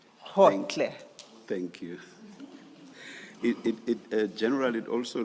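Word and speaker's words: Gotlhe: It's Khotle. Khotle. Thank you, thank you. And maybe, Ms. Hassim, it may have to be spelled for the transcript. Thank you. And that's spelled G-O-T-L-H-E. Hotle.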